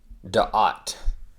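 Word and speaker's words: דעת: And then this yod is connected to that E, so it's na, V, and then of course the aleph is silent. And that's a prophet. Okay. Da'at.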